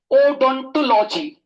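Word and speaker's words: odontology: ओडोंटोलॉजी, ओडोंटोलॉजी। ठीक है, तो टीथ की स्टडी को या इसको अच्छे से ओडोंटोलॉजी, ओडोंटोलॉजी, ओडोंटोलॉजी। तो इसको तोड़ के ओडोंटोलॉजी, ओडोंटोलॉजी ऐसे प्रोनाउंस कर ले तो अच्छा है।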